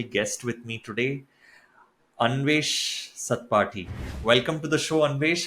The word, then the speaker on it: Satpathy: You pronounce it Satpathy. The correct pronunciation is Satpathy. So it comes from like Satapatha Brahmana. Like that's where it comes from. So Satpathy.